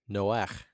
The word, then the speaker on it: Noach: Noah is a Hebrew name. And Noah's name way back in ancient Hebrew was actually pronounced Noach. Noach. Just like a Okay. Scottish loch.